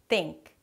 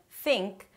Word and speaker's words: think: 'th' In Spanish, people tend to keep the tongue inside and then it sounds like a T. 't' 't' 'tink' 'teory' Instead of 'think' and 'theory'.